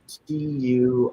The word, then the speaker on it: Tuolumne: it originates from spring snowmelt flowing down the Tuolumne. How do you pronounce that? Tuolumne River.